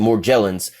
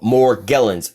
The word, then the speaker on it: Morgellons: call it Morgellons disease but Morgellons some people pronounce it more jealous but Morgellons I definitely suggest as you look this [